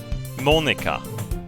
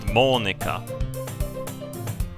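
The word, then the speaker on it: Monika: Monica. As you pronounce it. Monica. Not Monica. That's fucking English. Monica. No, like this. It's kind of pronounced like this.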